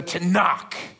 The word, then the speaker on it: Tanakh: called it the Tanakh it's a fun word to say if you say it right there's a little spittle that comes out hits the back of the neck of the person in front of you so I want you